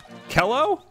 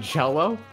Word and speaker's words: cello: cyber quake says Bob that's not how you pronounce that Kelo oh you mean cello I know what it